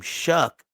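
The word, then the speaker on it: Shough: you pronounce your name Shuck but is the English language is weird bro but he spell his name sh h o u g h but it's pronounced shuck.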